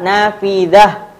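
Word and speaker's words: نافذة: Tak marbutoh ini bacanya apa? Ha, nafidah, dah. Nah, pakai ha.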